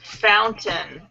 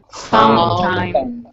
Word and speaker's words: fountain: Fountain. Fountain. Yes. Try two. So the A-I-N is pronounced, in the case of nouns like mountain and fountain, they're very subtle.